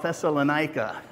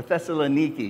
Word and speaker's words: Thessalonica: This is on his second missionary journey, and he's in a town called Thessalonica, or Thessaloniki, you might hear it pronounced sometimes.